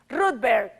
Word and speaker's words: Rudberg: Rudberg. Rudberg, sí. En español se dice Rudberg, en inglés se dice Rudberg, en sueco se dice Rudberg.